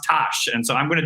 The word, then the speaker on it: Tosh: Tosh Dienes from the Ethereum Foundation, it's pronounced Tosh.